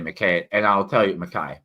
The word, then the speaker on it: McKay: And I realized you don't have to say it with a Scottish accent to pronounce it correctly. It's just that he pronounced it Stephen A. McKay.